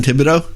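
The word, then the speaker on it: Thibodeaux: it out your name no tibeto all right so what's his name thibodeau that's right and what position is it from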